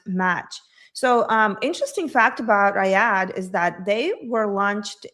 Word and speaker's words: Riyadh: How would you pronounce that name? Right? Riyadh. Riyadh.